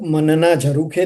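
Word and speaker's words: मन ना झरूखे: What does the title means and what the title is exact to be pronounced? Yeah, the title is like मनना झरूखे थी।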